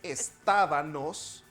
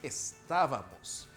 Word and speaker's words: estábamos: de la sílaba mos porque es m no n no es estábanos muuch estábanos no es cantábamos no es asían es estábamos esta forma verbal siempre